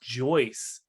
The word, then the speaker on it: Joyce: Joyce rhymes with Royce.